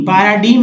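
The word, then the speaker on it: paradigm: जैसे एग्जाम्पल में देखिए पैरा, देखिए पैराडीम, पैराडीम में जी को नहीं पढ़ना, यानी नमूना, उदाहरण।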